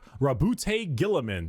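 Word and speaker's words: Roboute Guilliman: Primark Rabbout Gillamin. That's how Yeah, that's how it's said.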